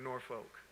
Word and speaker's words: Norfolk: a very different norfolk notice how i say it like we from norfolk right people laying from here to be like norfolk but five years from